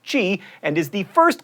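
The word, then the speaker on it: Χ: The X is a reference to a Greek letter, X, which is pronounced chi, and is the first letter in the word for Christ.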